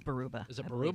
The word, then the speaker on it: Baraboo: It's like it looks like it keeps reminding me of Hart's Barracuda, but it's like Baruba. It is Baruba. Is it I believe. Baruba?